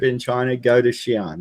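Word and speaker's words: Xi'an: a ministry trip in trying to go to Cheyenne it's spelled x i am but they're in town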